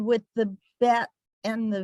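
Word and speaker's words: ב: With the dot, it's a b, and without the dot, it's a v. And this one with a dot, it's a p, and without the dot, it's a f.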